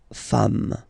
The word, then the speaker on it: femmes: the singular form, and then you just add this s at the end, and as we said, you don't pronounce it, so you get des femmes.